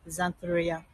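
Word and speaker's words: Xanthorrhoea: And their botanical name starts with an X, it's pronounced Xantheria.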